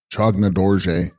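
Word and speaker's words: Phyag-na rDo-rje: Text, Phag Na Ridorje, pronounced Chogna Dorje, bearing the Dorje in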